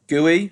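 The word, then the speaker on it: Guéhi: And then Mark, I don't know how you say his name, Gooey? I think it's Gooey.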